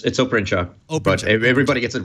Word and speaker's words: Oprencak: Did I even get close to the right pronunciation? Close enough. It's Oprenchurch.